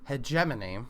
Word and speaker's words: hegemony: hold on I am looking up how to pronounce this. All right. So it's hegemony according to Google.